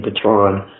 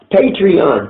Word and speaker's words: Patreon: I can't pronounce it I would keep saying pathan but that's not right patreon thank you how do I